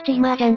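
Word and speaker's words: 芝麻醤: これはチーマージャンって読むんだぜ。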